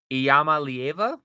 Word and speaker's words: Iamaleava: Nico Iamaleava, I believe is how you pronounce it.